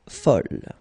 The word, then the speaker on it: folle: And here is the second masculine form, and it's folle. And the feminine form is folle. Okay, same thing here, same pronunciation, but then you write them differently.